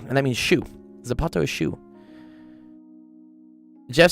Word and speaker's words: zapato: What's Zapato? Uh, that's Spanish when they So, people in Spain pronounce it as a th in in Mexico and stuff. It's a Z and that means shu. Zapato.